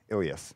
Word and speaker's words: ileus: Ileus. How do you pronounce it?